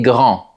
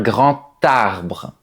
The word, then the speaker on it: grand: Par exemple, on dit "Cet arbre est grand." Mais devant une voyelle ou un H muet, avec la liaison, la lettre D se prononce comme un T. Par exemple, "C'est un grand arbre."